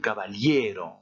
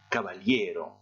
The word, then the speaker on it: caballero: Un caballero. Un caballero. Alors, les deux mots se ressemblent, mais vous voyez que ce n'est pas la même syllabe qui est prononcée plus fort. Tout simplement parce que votre mot se termine par une voyelle et c'est l'avant-dernière syllabe qui doit porter l'accent tonique.